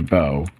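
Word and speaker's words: bough: Right, so this should be bow. Or bow, or however you pronounce this. It's not pronounced buff, though.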